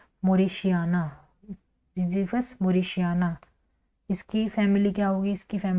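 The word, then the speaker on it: mauritiana: जड वाई पी एच यू एस विवी फस मॉरिशिया एम ए यू आर आई टी आई ए एन ए ठीक है मॉरिशिया फस मोरिश इसकी फैमिली क्या होगी इसकी फैमिली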